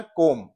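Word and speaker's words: comb: so definitely we know B जो है यह साइलेंट लेटर है इट इज not pronounce in the word O एम बी इसका प्रोशन क्या है कोम नॉट कोम तो बी यहां प्रोनाउंस नहीं होती य साइलेंट है सो आप देख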